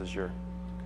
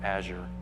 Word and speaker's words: Azure: by Microsoft and windows Azure or Azure however you want to pronounce it yeah I hate saying Azure it almost sounds dirty I use the French Azure you know get a